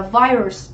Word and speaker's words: virus: Đầu tiên chúng ta có danh từ là virus, đúng không? Virus thì trọng âm sẽ giống tiếp thứ nhất.